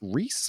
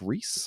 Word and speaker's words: Reiss: Wow and I think I think it's pronounced Reese Mike Reiss another big Simpsons guy